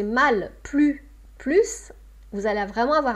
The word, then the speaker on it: plus: Donc, comment vous allez prononcer le « plus »,« plus » ici est très important, le sens change. « J'en veux plus », négation. « J'en veux plus », davantage.